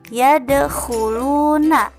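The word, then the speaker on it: يَدْخُلُونَ: Selanjutnya yaitu yadkhuluna. Nah, kho di sini teman-teman bacanya di pangkal tenggorokan. Yadkhuluna, kho.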